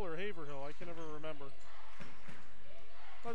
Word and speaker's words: Haverhill: by joe marshall they are out of massachusetts haverhill i believe that's how you pronounce there's molly moffett for three no haverhill or haverhill i can never remember but it's massachusetts either